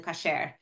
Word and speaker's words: kosher: For example, I think kosher is becoming more common than kasher. Like there's still some, you know, some people who say kasher, which is, they're both Hebrew, but they're just different traditional pronunciations.